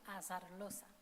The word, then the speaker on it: Azarloza: And as the final candidate, Azarloza, or Azarloza, how do you pronounce it? Azarloza.